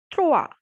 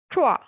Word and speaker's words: trois: Third is trois, trois, because O and I has the sound wa. So trois.